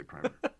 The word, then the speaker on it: primer: read it's a good it's a good primmer as Adam McGee has instructed me to pronounce that word over many years primer for I'm saying Prim just Eagle season I know it's better to say primer but it's a good primer